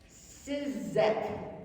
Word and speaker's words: Ciszek: The other one, He Leadeth Me, by Walter, I'll spell it and pronounce it, Ciszek, Ciszek, which means he's a Jesuit.